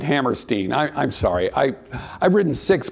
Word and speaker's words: Hammerstein: Hammerstein, of course, he actually pronounced it Hammerstein.